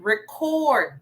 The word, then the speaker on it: record: This time, record, meaning it's a verb, okay? So the syllable stress is in the second syllable.